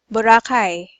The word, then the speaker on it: Boracay: Bor Boracay.